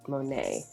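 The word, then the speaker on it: Monét: And I might pronounce her name wrong, but I'm pretty sure it's Monet.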